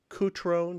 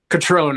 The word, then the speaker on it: Cutrone: The title is A Walk on the Wild Side, and stereo photographs made by Ronnie Cutrone. Did I pronounce that right? Catrone, I believe.